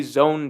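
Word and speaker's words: Zoan: it you know like i say zone devil fruits that makes sense because z-o-a-n-o-a-n that pronunciation is own right l-o-a-n loan we already have stuff in the language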